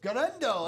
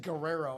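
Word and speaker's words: Guerendo: Garendo. That's how you say it. Garendo here in the break room. I almost said Guerrero and I'm like that is totally wrong.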